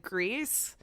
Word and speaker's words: Gris: because fantastic to you I think that's how you pronounce the game I think we've always said Gris graceful said the developer said grease hmm either way it's just healthy Americans can't pronounce anything yeah either way you